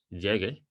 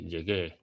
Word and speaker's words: llegué: Now, that means that you need to extend the sound of the E in Spanish. So instead of saying llegue, you say llegué. And that shows that there is a stress on the last syllable of that word.